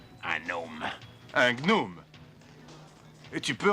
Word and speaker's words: gnome: Tout d'abord, si tu étais un gnome, tu saurais que le G de gnom se prononce. On dit gnome.